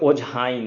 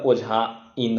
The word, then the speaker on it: ओझाइन: देखियो में छै ओझाइन, तो ई और ई में ई मतलब दीर्घी भेलै तऽ ओझाइन। कखनो ई एना उच्चारण नहीं होइ छै, हल्का ई के उच्चारण होइ छै। तऽ हल्का ई मतलब हर्ष ई, जाहिमे कम बल लगै छै, ताहि दुआरे ओझाइन हेतै, ओझाइन।